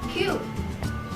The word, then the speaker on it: queue: Padahal pronounce-nya cuma Q ya, tapi kenapa sih kok bisa salah? Oke, jadi ketika kalian mau pronounce kata Q, kalian nggak usah ikutin penulisannya QU atau QU, QQ atau QU ya. Itu banyak banget orang-orang yang bilang Q itu QU karena ngikutin penulisannya.